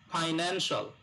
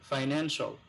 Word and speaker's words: financial: ফাইন্যান্সিয়াল। নেনের উপরে stress হবে, ফাইন্যান্সিয়াল।